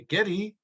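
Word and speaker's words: Geddy: his mother would say getty that's how she pronounced ours that's right with the yiddish accent so he retained it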